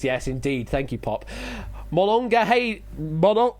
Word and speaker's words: Monongahela: And we're going to Monongahela. Monongahela. Monongahela. Monongahela. Hashtag make Ash say things. Yes, indeed. Thank you, Pop. Monongahela. Oh, healer. Okay. Healer, not Haler. Okay.